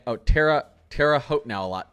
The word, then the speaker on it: Terre Haute: Oh, Terre Haute now a lot. Terre Haute.